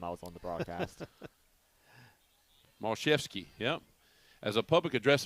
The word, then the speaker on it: Mashevsky: Mashevsky.